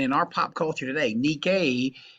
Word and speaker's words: Nike: our pop culture today nikkei is spelled nike or it's also known